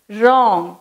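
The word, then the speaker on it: wrong: Next ராங், அதை நம்ம எப்படி ப்ரொனவுன்ஸ் பண்ணுவோம், ராங்.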